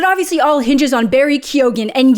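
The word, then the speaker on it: Keoghan: all hinges on very kogan and yes he pronounces the G in his name I've been sass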